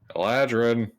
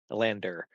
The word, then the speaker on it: Elander: literally letter for letter pronunciation. Elander. It says land right in the middle.